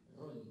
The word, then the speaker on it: Rolly: Por favor, pronuncie bien el nombre. Mi nombre es Rolly Silva. Rolly.